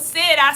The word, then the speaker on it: sera: It's not sera, sera, sera. It's buonasera. That's the greeting. Buonasera, how do we spell buonasera? B-U-O-N-A. But this is not one word. Then the second one is sera.